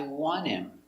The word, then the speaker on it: want him: But remember, the H is silent, so it's I want him. The T is silent, the H is silent. Together, want him.